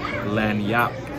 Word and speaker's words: Lagniappe: and on the menu it actually says how to pronounce the restaurant name it's called Louisiana lanap so you want to